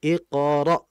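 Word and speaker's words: اقرأ: Nah, di situ ada hamzah mati iqra. Nah, cuman juga kita jangan sampai terlalu dalam pengucapan hamzahnya yang dikhawatirkan akan menjadi ain. Iqra. Nah, jangan. Yang betul iqra, ra, seperti itu.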